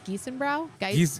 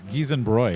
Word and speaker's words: Giesenbräu: You would think it would be Brau, but it's Bräu, which Brau, is like funny Frau.